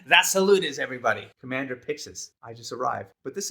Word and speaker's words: Pixis: Or Pixies or Pixies. I'm not sure how to pronounce his name. I would say Pixis until I start saying Pixies.